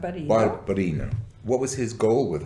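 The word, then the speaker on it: Barbarigo: Barbarino.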